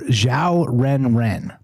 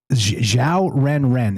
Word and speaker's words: Xiao Ren Ren: and Xiao Ren Ren. It's X I AO Ren Ren and just like it sounds.